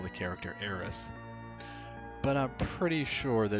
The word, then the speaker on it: Aerith: versus aerith debate um i always thought aerith sounded really weird like you're saying heiress but with a lisp aerith and i found